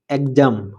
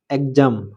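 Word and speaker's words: exam: যেমন ই এক্স এ এম এক্সাম এক্সাম এখানে এক্স এর পরের অক্ষর এ এর উপর জোর দেওয়া হয়েছে। তাই উচ্চারণ গয়জয় এর মত শোনায়।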